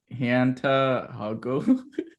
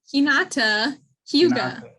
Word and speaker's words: Hinata Hyuga: Hanta Hago. No, Hinata Hyuga.